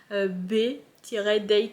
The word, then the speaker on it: B-Day: La musique c'est B-Day, je pense que ça se prononce B-Day comme le jour.